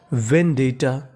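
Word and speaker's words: vendetta: आपको गौर करना है कि यहाँ पे T 2 बार लिखा है, हमें खाली उच्चारण 1 बार करना है, यानी कहने का मतलब T 2 बार है, पढ़ना खाली 1 बार है।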